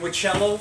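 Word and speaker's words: Whichello: in looking it up it is spelled um w-h-i-c-h-e-l-l-o so not like uh not like a witch but uh the other way the other Witch Way so and Nico is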